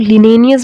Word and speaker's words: Linnaeus: So the 18th century naturalist Carolus Linnaeus, या इसको बहुत सारे लोग लिनेनियस भी बोलते हैं.